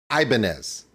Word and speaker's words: Ibanez: okay here we go I think we're all saying the same thing it's just a matter of the culture you're from says it its own way Rammstein is a German word but when you say it in English depending upon you were you'll say it differently for instance everyone in the United States including guitar techs guitar manufacturers guitar playing artists everyone says Ibanez including tank the tech